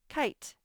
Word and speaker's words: kite: i do i kite don't forget the e it's silent but it's necessary to make the i say its name kite time time time the